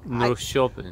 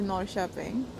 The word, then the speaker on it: Norrköping: Norrköping. Oh my god, that was a horrible intro. It's not how you pronounce it. So, as an introduction, a nice and soft introduction to Norrköping.